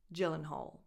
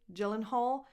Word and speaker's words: Gyllenhaal: But they go by Jake and Maggie Gyllenhaal. And they always pronounce it that way, Gyllenhaal, maybe except when they are in Sweden, I don't know. But the correct English pronunciation that they always give is Gyllenhaal.